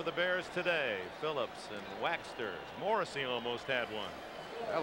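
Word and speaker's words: Waechter: He said, it's Waxter, just like beeswax.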